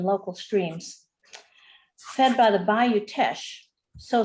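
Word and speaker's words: Bayou Teche: Well, I did not know how to pronounce Bayou Tesh.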